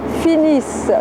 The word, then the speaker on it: finissent: Je vous rappelle que la terminaison de la troisième personne du pluriel ENT ne se prononce pas. Ils finissent.